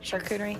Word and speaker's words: charcuterie: Charcuterie?